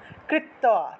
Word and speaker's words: কৃত্বা: 16 নম্বর হলো অগ্রতু অমুম মহাদেব কৃতম কিলকবারণম, কিলকবারণম নিষ্কিলঞ্চ, নিষ্কিলঞ্চ তথা কৃত্বা, কৃত্বা তয়ের নিচে বফলা থাকায় তুও উচ্চারণ হয়েছে।